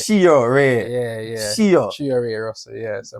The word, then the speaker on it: CHEORAY: It's Cheo. Oh, Ray. CHEORAY.